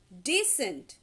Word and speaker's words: decent: first is descent second decent and the third one is descent basically the first and third ones their pronunciations are almost same but the second one is decent okay now look at